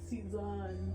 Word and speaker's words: season: UH, season, I know it says O there, but we pronounce it season, Oh, okay. not season.